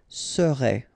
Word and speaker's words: serait: Keep in mind that when we've got like that, you really pronounce it so serait, okay? I together, serait. Okay, the first S is quite strong, hein?